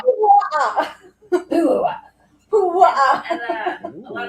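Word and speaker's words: puaʻa: Pu'a'a. Jesus Christ! Actually, you're Say gonna it with me. Pu'a'a. Pu'a'a.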